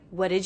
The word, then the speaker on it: what did: first of all that I've dropped the T here whatd what did what did you do I'm also noticing